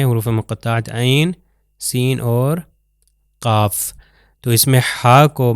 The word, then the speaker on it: ق: یہ دیکھ سکتے ہیں، قاف جو ہے اس کے اوپر مد ہے، اس کو لمبا کریں گے، قاف والقرآن المجید بل عجبوا